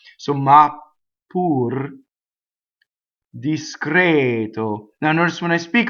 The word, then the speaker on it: discreto: Discreto.